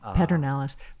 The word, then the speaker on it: Pedernales: it's written, Pedernales, but here in Fredericksburg they call it the Pedernales.